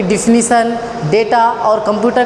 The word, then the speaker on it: data: बार आप सुनोगे डेटा, वैसे कुछ लोग डेटा को डाटा भी बोल सकते हैं, क्योंकि वो DATA लिखा होता है तो कुछ लोग डाटा पढ़ते हैं, जबकि प्रोनाउंसिएशन के हिसाब से डाटा नहीं डेटा पढ़ा जाता है।